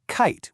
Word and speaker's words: kite: It's kit with a short e versus kite with a long i. And the reason for that huge change is our first secret weapon, that silent but super powerful magic e at the end of kite.